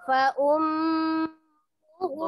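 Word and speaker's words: فأمه: Nah, hu-nya itu pendek. Hu-nya itu bacanya pendek, jangan dipanjangkan. Hu, jangan.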